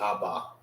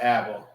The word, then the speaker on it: Abba: It's not aba. It's aba. That's how you say it in the Hebrew.